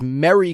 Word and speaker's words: merry: the greeting for Christmas are pronounced all exactly the same. Mary, Mary, and Mary. But I pronounce all three differently. Jesus' mother's Mary. It's Merry Christmas, and you marry someone you love.